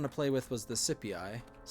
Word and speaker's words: Scipii: Yeah, it's Scipii. I think Roman pronunciation is supposed to be C is said with a hard k sound, whereas the in Greek when you're trying to say Greek words, it's usually with a soft C.